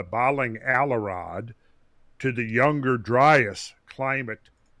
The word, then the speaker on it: Dryas: like i say it's it's younger driest not younger dry ass yeah okay so i'm